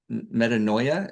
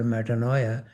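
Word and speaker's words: metanoia: original meaning of repentance is metaninoia. Is that how you pronounce it?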